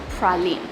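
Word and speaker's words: Praslin: Good afternoon from Proline Island. It's actually spelled like this, but it's pronounced Proline.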